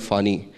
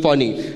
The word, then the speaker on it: Fani: So I remember in 2019 we were hit with a little cyclone called Fani, right? Okay. And I didn't pronounce it right. Yeah, so some people call it Fani, some people call it Fani.